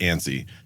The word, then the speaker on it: ANSI: Like we had talked earlier like the the standard for measuring homes is it's an acronym ANSI. It's pronounced ANIE.